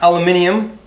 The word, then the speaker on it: aluminium: Again, this is all aluminum or aluminium, however you wish to pronounce it.